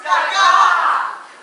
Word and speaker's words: Gaga: It's pronounced Gaga!